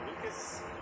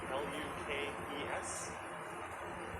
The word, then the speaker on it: Lukes: Nathan Lucas, L-U-K-E-S. You hear a lot of people saying Lukes, including commentators, or Pages.